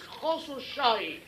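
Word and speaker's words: Khosrowshahi: It's a Persian name. It's Khosrow Shahi.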